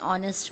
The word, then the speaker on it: honest: with a h but where h is silent. That means where there is no sound of h is pronounced, like an honor, an hour, an honest man.